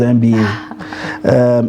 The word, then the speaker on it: Mba: Mba. She warned me not to pronounce it as MBA.